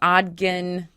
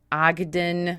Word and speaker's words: Ogden: also has a book called The Ghosts of ogan Ogden I said it wrong I said something weird